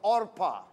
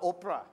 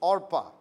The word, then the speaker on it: Orpah: the daughters name was all pas not Oprah I think she spelled her name wrong Lee Oprah but really her name was OPA Oh eh ph aah Orpah but ok Oprah has